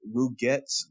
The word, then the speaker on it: Rygart: oh man, his name is so hard to pronounce for me, but it's like Ruget Arrow. Is that Rygart. right? Rygart. Rygart, yes, Rygart Arrow.